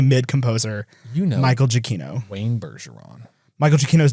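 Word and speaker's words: Giacchino: that no it's that it's uh it's jokino jokino actually so I'm actually happy to know that it's I I've pronounced it all manner of ways that accept that yeah yeah you know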